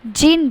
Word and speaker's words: djinn: तो जिन वर्ड आप ध्यान से देखिए तो जिन की स्पेलिंग क्या है, DJINN, जिसका मतलब है, जिसे हम प्रोनाउंस जिन कर रहे हैं, जिसका मतलब है कि डी उसमें साइलेंट है।